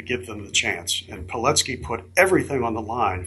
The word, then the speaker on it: Pilecki: And Pilecki put everything on the line for the liberty of his people, and that was – I did not know about him before.